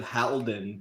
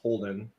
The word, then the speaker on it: Holden: Yeah, you said Halden, but it's Holden. Holden, H-A-L is pronounced Holden.